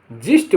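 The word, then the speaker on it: gist: pigeon pigeon माने कबूतर जी आई एस टी जिस्ट माने सार जी ई एम जेम माने कीमती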